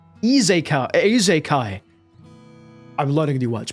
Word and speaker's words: isekai: It's izakai. Eekai.